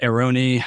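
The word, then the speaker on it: Airone: So you can get the Aeroni. And talk about pronunciation.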